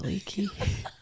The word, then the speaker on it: Aliki: And I was asking her how to pronounce her last name, but she's like, it's just Aliki.